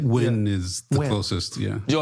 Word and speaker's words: Nguyen: Alex Ochoa, and George Nguyen, how do you pronounce it, Chris? This is Vietnamese name. N G N U Y E N. Nguyen is the closest, yeah. George Nguyen, he's the he's the he's that's Grand Wizard